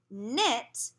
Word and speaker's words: knit: If you have a KN, like in knit, you can cover the K. It's silent.